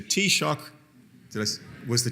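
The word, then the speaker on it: Taoiseach: Ahern was the and I was coached in this pronunciation by my taxi driver yesterday was the tea shock to us was the tea shock at the time in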